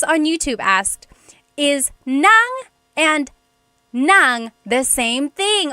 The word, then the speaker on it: nang: Uh S on YouTube asked, "Is nang and nang the same thing?" Oh my gosh, I love this question. So, there are two types of nang in Tagalog. N a n g nang and then ng nang.